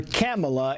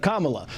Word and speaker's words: Kamala: her boss the president continues to mispronounce her name calling her camela instead of Kamala some believe Harris lowprofile